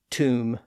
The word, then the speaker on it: tomb: Those Bs are there because, again, there was once a B sound at the end of those words or in some part of the earlier version of those words. And in those cases, the Bs were once pronounced in the Middle Ages. But the evidence suggests that they were all silent by the early 1600s.